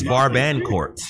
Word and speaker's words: Barbancourt: So the R and the T are silent. Whatever. Because it says babakort. Hey, can we get serious, man? Barbancourt. It's Barbancourt.